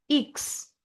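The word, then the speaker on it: Ix: English का जो एक्स है वो जर्मन में हो जाएगा इक्स। English एक्स is pronounced as इक्स in German.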